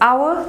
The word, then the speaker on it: hour: So it is correct to say an hour, an honest girl, an MA degree, because hour begins with the sound, honest begins with the o sound, and MA begins with the air sound.